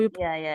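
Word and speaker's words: Vidheyan: Is that how Vidhayan. you? Yeah. Is that how Correct. you pronounce it? Yes, Videyan, yes, right?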